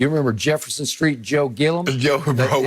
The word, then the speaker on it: Gilliam: Do you remember Jefferson Street, Joe Gillum? It's Gilliam, but he pronounced it Gillum.